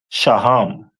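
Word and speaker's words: שֹׁהַם: And then we move over to the stone that represent them is a onyx which is pronounced in the Hebrew as shaham most high Christ.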